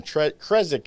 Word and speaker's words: Krzyzek: hard last name right it's polish last name it took me five years to finally pronounce it correctly so call me rek that's perfect is fine krezek is what i heard on one of the shows but you know